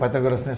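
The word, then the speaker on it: Πυθαγόρας: அவர் வந்து ஸ்டைலாக பித்தகோரே அப்படின்னார். அதை வந்து நான் கிளாஸில் வந்து சொன்னேன்னா பசங்க சிரிக்க ஆரம்பிச்சிடுவாங்க, கேலி பண்ணிவிடுவாங்க. அதனால் வந்து சரி, இனிமேட்டு நம்ம வந்து பைத்தகோரஸ்னே சொல்லலாம் அப்படின்னு முடிவு பண்ணிவிட்டு, சரி ஐசோசலிஸ் எப்படி ப்ரொனவுன்ஸ் பண்ணுறதுன்னு அவர்கிட்ட கேட்டேன்.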